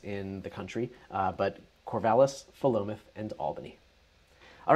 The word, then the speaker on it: Philomath: I did too when I was new, because it looks like it would be Philomath, but it's not. There's no Philo dough, it's Philomath.